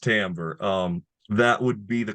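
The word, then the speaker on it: timbre: tamber or the tone I know it's spelled with an i it's pronounced tamber um that would be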